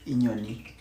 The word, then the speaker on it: inyoni: I is pronounced E. I say maybe inyoni.